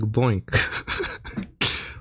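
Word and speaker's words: BOINC: aka world using the boink boink network pronounced like boink.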